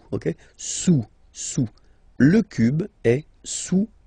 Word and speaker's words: sous: Don't pronounce the final S, and then this OU combination of vowels is pronounced OU. Okay, sous, sous.